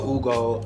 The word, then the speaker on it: Ugo: you pronounce it properly yeah like food it has to be coming from the chest you know and what does it mean so Hugo in the Nigerian language